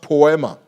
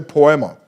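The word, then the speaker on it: ποίημα: workmanship is actually a Greek word that is pronounced poema turn to your neigh and say poema po it is from that word that we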